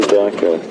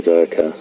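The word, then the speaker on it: duiker: Little grey Dyker. Dyker is spelled D-U-I-K-E-R. It's a small antelope that dives through the undergrowth in that manner and hides in those little thickets. And Dyker in Afrikaans means diver.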